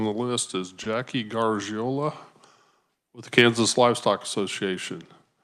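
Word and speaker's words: Garagiola: name very very close G giola so if you're familiar with Joe gariola same pronunciation as the baseball player so that's usually where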